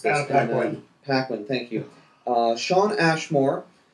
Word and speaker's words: Paquin: These actors and actresses are Halle Berry, Ian McKellen, Patrick Stewart, Ellen Page, and I'm not sure how to pronounce this. Paquin.